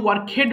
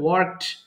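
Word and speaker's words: worked: ওকে, তাহলে এটা কিন্তু ওয়ার্ক হেড বলবেন না কেউ, ভুল করে আমরা অনেক সময় ওয়ার্ক হেড বলে ফেলি, এটা হবে ওয়ার্কড, ওয়ার্কড।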